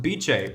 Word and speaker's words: Beecheii: So yes, in this video, we are talking about Beecheii, pronounced like ceviche.